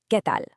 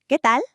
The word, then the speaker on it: ¿Qué tal?: Notice the accent over the e and how the upside down question mark actually frames the sentence at the beginning. Let's try pronouncing that together out loud, keeping that pure e sound and that crisp a sound.